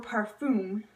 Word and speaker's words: parfum: a lot of products and then fragrance or parfum that's how you say it but par Veet